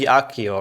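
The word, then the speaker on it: Accio: See if pronounces K. It should be Akio, right? I thought so as well. The official Latin pronunciation should be that.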